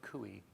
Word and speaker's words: Coie: uh producer right uh by the way it's kui oh kui i'm sorry you know it's written